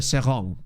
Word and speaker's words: Seraing: on loan yeah sorry the team is pronounced song well I believe so that's how I've heard it said um cuz it's in the French bit of Belgian or the the French speaking part Belgium no it don't one certainly